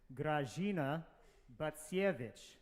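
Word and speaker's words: Grażyna Bacewicz: It's pronounced like this: Grażyna Bacsiewicz. You can all try that with me now. Grażyna Bacsiewicz.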